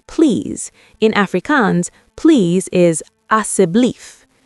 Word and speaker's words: asseblief: In Afrikaans, please is asseblief." She pronounced it slowly. Asseblief. Asseblief, Elias practiced.